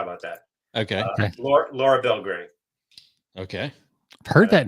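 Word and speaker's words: Belgray: that okay okay Laura Belgrade okay heard that name but I don't think I'm on our list or anything how do you spell that last Belle gray just the way it sounds b-e-l-g-r-a-y okay sometimes she'll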